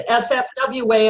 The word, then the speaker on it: SFWA: Oh, well, but it's important because it's SFWA, and we often make the joke that the other F is silent. I always wanted to be a member of SFWA, and it was a